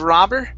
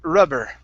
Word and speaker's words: rubber: okay uhhuh okay so instead of robber ra it's R rubber okay rubber good one more